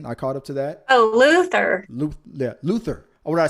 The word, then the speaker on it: Luther: I'm watching Luthor. I just binged watched Luthor. I caught up to it. Idris Elba again. I caught up to that. Oh, Luther.